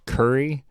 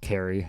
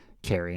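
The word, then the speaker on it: Cary: kept saying the city in north carolina was curry and it's totally pronounced carrie i knew that and even time i kept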